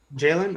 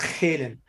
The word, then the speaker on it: Jalen: jalen jalen okay so it's not hayden all right jalen from vancouver probably jalen well it's a j that sounds like a g it's